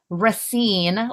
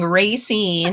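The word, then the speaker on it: Racine: of reading minicon in Rine. Last time I was saying Rayine and I learned I was incorrect with my pronunciation Wisconsin.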